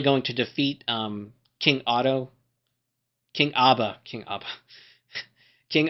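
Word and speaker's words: Odda: Is it how you actually spell his name? But it's pronounced like Otto.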